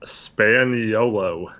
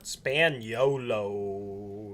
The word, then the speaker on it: Spagnolo: partner for the record mateo's last name is pronounced spaniello spaniello you only live all once so taylor